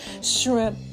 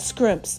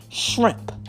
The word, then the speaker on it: shrimp: Shrimp, not scrimps. Okay, let's get the pronunciation correct. Shrimp.